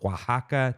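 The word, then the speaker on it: Oaxaca: topped with avocado tomatillo sauce green onions and Waka cheese it's how you say it fresh baked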